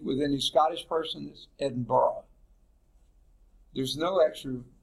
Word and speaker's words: Edinburgh: in Edinburgh Scotland in fact that looks like Edinburgh doesn't it speak with any Scottish person this Edinboro there's no action syllable there they pronounces if there is Scots